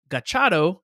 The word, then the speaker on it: Gotchard: Similar to how Gotchard would be pronounced Gachado because of gacha.